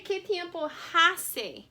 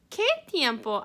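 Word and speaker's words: qué tiempo: for this unit is notice i didn't say ketimpo because the h in spanish is silent okay so here's our word que tiempo ace que tiempo that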